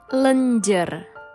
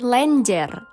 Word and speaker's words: lenjer: ada yang salah l pempek lenjer bukan lenjer yang benar adalah pempek lenjer Terima kasih untuk komentar